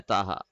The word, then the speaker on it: Taha: do you know their Taha so the actual pronunciation of your name is poha actually but normally people say it like Taha so we are used to Taha but the actual name